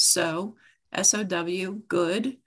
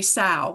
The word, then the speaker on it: Sow Good: They'll do S-O, or they'll say sow, like, you know, okay. So then I think that's a cow, but so sowing is sowing seeds, and good now, start now.